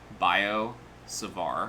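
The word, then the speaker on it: Biot–Savart: pronouncing that right but i know you don't pronounce the t's it's like bio savar or something like that uh law okay the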